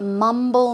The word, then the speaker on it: mumble: Now, can you guess what mumble means? I'll give you an example. Let's check it out. Okay, so to mumble, the stress goes on the first syllable.